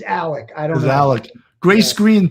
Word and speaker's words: Alex: pronounced Murdoch and then his name is Alex pronunciation is Alec I don't know Grace